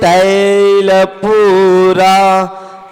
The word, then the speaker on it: तैल: तो पढ़ते हैं, निधूमिवर्तिवर्जिते तैलपूरा कृत्स्नं जगत्त्रयमिदं प्रकटीकरोषि गम्यो न जातु मरुतां चलिता चलानां दीपो परस्त्वमसि नाथ जगत प्रकाशा। इसमें निर्धूम वर्ती रप वर्जित तैल तेल और तैल, इसमें बड़ी मात्रा लगी हुई है।